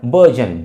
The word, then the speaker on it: burgeon: This is called बर्जन, BURGEON। बर्जन means बर्जन, right. बर्जन, रा को हम pronounce नहीं कर रहे हैं यहाँ पे, बर्जन।